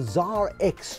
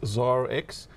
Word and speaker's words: ZARX: perceived as a nightclub you got it right the first time around it is zara x it basically speaks to